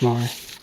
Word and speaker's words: Marr: Yes, it's pronounced Marr.